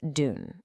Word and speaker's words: dün: Let's kick things off with yesterday, which is dün. It sounds a lot like dune.